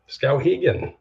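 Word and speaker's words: Skowhegan: Scowaggan. Scowagen. I knew I pronounced it incorrectly.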